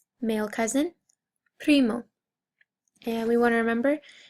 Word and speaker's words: primo: Male cousin, primo. And we want to remember that if you can, I know it's hard, but if you can roll your R's, we're going to try